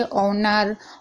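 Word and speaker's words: honour: यानी कि एच है उसके बाद कोई भी मात्रा है जैसे कि ए, आई, ओ, यू, तो एच साइलेंट रहेगा। यहाँ पर आप पढ़ लीजिए ऑनर, ऑनेस्ट, हम्बल, यहाँ पर सभी में यहाँ पर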